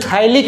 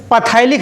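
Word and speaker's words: phthalic: बोलते हैं थाइलिक एनहाइड्राइड। क्या बोलते हैं? थाइलिक एनहाइड्राइड। पथाइलिक एनहाइड्राइड मत बोल देना, P साइलेंट है, नहीं पथाइलिक।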